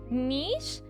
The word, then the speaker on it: Niche: You can just call me Niche. Oh, like vanish.